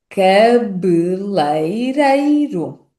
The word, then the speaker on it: cabeleireiro: E temos ainda, vamos repetir agora, o som do ditongo e que n algumas variedades regionais pode ser pronunciado como ei. Ei.